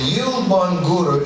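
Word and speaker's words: Yielbongura: And I'm going to spell it so you get a picture. Y-I-E-L-B-O-N-G-U-R-A. Can you say it with me, please? Yilbangura. One more time. Yilbangura. Beautiful. And Yilbangura in the Dagara language, that's the people Malidoma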